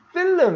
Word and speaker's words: film: to film이 찍기 위해. 이거 film 이렇게 하지 말고 L은 발음하지 않고 film입니다.